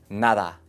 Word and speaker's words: nada: La D suave es más común, usualmente entre vocales. Nada, todo. Es similar a TH en inglés. Father, nada.